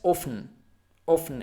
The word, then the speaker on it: often: Here again, this T is almost muted, so don't say often, but often.